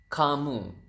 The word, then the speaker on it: kamu: U is kamu. So ka and moo.